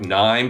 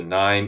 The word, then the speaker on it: KNIME: world, probably accurately to call it something like Nime, for instance, the Nime analytics platform. Yeah, And and let's that's, spell that out for our yeah, listeners.